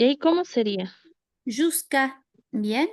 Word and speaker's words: jusqu'à: Jusqu'à. Bien, directamente jusqu'à. La U después de la Q no la pronunciamos nunca.